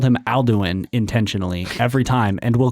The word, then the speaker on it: Alduin: Maybe perhaps next time Alduin dies, you'll have more time. Can we clarify how you're pronouncing that name?